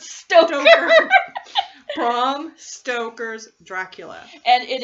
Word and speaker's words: Stoker: Yeah, because I want to say Stroker. That's dirty. It's dirty. Bram Stoker. As in Toker, but Stoker.